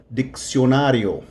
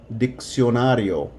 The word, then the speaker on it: diccionario: Okay, vocabulary number one, dictionary, diccionario, diccionario. So notice that the first one sounds like a K, the second one sounds like an S because the C comes before the I.